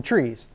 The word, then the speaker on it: trie: So it stands for retrieval, T-R-I-E, in retrieval. And the guy who created this data structure calls them trees. But we already have a name for trees, and it's spelled different, right?